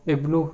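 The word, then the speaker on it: ابن: See the difference between the pronunciation of ibnu here and here. It is pronounced by pronouncing hamzatul wasl properly, ibnu, but here the pronunciation of hamzatul wasl is dropped.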